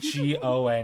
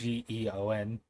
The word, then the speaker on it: Geon: You said Gon, it's Geon.